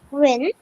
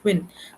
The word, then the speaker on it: queen: It's not Quinn. Quinn is completely a different word, okay? That's a name. Let's pronounce it as Queen.